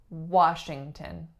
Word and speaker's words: Washington: next up we have Washington Washington three syllables and not too tricky because we hear this one quite often the first sound is our second syllable is string and third syllable tune so a schwa again so this word this last name also has our velar nasal Washington Washington next up